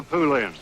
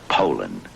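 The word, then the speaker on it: Poulan: use anything but a pooland Poland Ed Poland and for over 30 years they've been mispronouncing our name po po po po so we'd like to remind you that our name is Poland and for a tough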